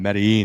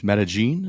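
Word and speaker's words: Medellín: turn what I mean we've been saying it wrong the whole time medine it's metagene is that how you supposed to say it yeah the the Double L is a g sound metagene medene I Rec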